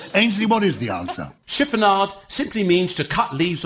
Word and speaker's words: chiffonade: is chiffonade chiffonade uh ainsley ames is pronouncing that wrong it's chiffonade it's just fizzy chiffon it's just like fizzy fabric that's all that is